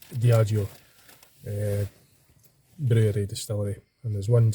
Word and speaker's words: Diageo: Diageo, yeah, I was just getting the pronunciation right. I had to Google Translate. Diageo.